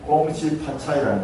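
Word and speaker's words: 恭喜发财: 부자 되라는데 중국 발음이 어떠냐? 꽁시파차이라는 겁니다.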